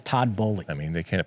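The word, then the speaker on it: Todd Boehly: these people are uh it is todd bowley you know you and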